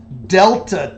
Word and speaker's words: delta: we were given was 10 this is called delta T this is already calculated as the change